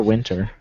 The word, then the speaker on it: Winter: Or Winter, if you want to. I don't know. I assume since her first name is Katya, that her last name is pronounced with a V instead of a W.